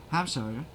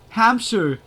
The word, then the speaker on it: Hampshire: Hamshshire.